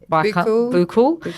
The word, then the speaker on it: buccal: But apparently I've also heard, not just from yourself, but another woman that does the I pronounced it wrong earlier, buccal, is that buccal, yes.